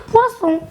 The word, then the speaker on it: poisson: Mais les amis, que faire si on veut forcer la prononciation de S entre deux voyelles? C'est comme si on voulait rendre le poison poisson. Que faire? Il faut tout simplement ajouter un S. Et on va dire poisson.